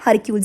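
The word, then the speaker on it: Hercules: अर्सल्स यानी कि फिर से रॉन्ग प्रोनाउंसिएशन। क्या है? हरक्यूल्स। ये हरक्यूल्स की वेन है जो कि मोस्ट ऑप्रेसिव रूलर गिने जाते हैं हरक्यूल्स।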